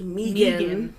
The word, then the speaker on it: Megan: So that brings us to probably the most popular adaptation today, which is the 1985 one, starring, and apparently it's pronounced Megan.